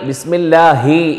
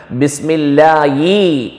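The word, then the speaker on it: بسم الله: ചില ആളുകൾ ബിസ്മില്ലാഹി എന്നുള്ളതിന് പകരം ബിസ്മില്ലായി എന്നും ഉച്ചരിച്ചു വരാറുണ്ട്, കാണാറുണ്ട്.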